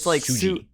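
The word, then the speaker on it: Tsuji: Yeah, I assume it's pronounced Suji. Yeah, no, it's like Suji.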